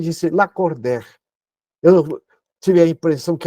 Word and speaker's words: Lacordaire: nome lacordaire Abraão faiad escreve la cordar e pronuncia lacord Eu me recordo quando